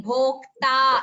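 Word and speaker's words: भोक्ता: Partho Vatsasudhir Bhokta. It is not Bhoktaha. It is Bhokta.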